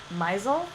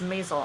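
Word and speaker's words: Maisel: creativity coach now by Eric myzel Mazal not sure how to pronounce it I believe it's Mazal on the new Amazon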